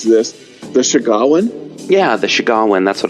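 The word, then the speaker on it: Sahuagin: Oh yeah, and they were very open that the and I always mispronounce this, the Shagawan.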